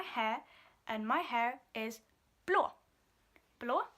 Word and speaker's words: blå: Blå has the O in it, which is the A with the 1 dot on it, which I know, Amanda, you have had some trouble with. You don't know how to pronounce it. It's O.